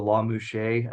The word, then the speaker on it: Lamusga: So, under the shared custody situation, the court does what's called a La Mouche analysis. Okay. It's a famous case in California. It's spelled LAMUSGA.